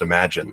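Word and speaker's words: Imagen: image and then genen is actually pronounced imagine and I was just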